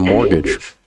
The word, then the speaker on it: mortgage: A pronúncia é essa, a gente não leva em consideração esse T aí no meio da palavra.